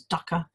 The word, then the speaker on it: dukkha: scriptures etc now there's a word in Buddhism called dukkha sometimes pronounces Ducker which actually has been